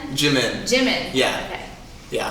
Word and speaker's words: Jimin: Jimin. Yeah. Okay. Yeah. I didn't know if it was Jimin or Yimin or I don't know.